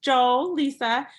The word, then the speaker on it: Joelisa: Well, my name is Jolisa, pronounced Joel Lisa.